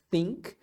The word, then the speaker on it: think: pensar ou achar é think tem o th aqui que a gente deve pronunciar com a língua entre os dentes What do you think